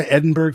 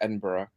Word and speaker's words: Edinburgh: Come to why Edinburgh for Halloween? Tell us more. Also, how did you pronounce that word right now?